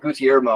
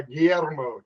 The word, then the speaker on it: Guillermo: We just called him G because like we couldn't quite all pronounce his name correctly. I think it was like Gutiermo or something like that. We just called him G. Yeah, Guillermo. Their version of George.